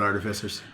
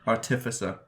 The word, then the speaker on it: artificer: I'll say it again artificer our Tiffa sir yeah so you hold on hold on artificial it tracks yeah I agree that's what properly say putting the wrong emphasis on the wrong syllable um according to whose